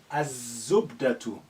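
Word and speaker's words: الزبدة: Za or Zain is a sun letter. Az-zubdatu.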